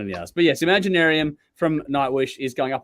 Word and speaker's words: Imaginaerum: I don't know how the fuck you pronounce that thing. It's just like whatever. Imaginarium.